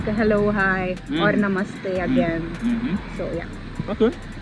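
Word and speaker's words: नमस्ते: So in Hindi, mostly if we informal way to greet in Hindi is to say namaste. That's Hindi? Yeah. Namaste.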